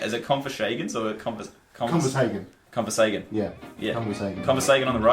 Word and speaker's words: ConversHagan: ConversHagan.